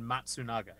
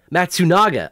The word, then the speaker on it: Matsunaga: How is it actually pronounced? Okay, so then Matsunaga. Matsunaga.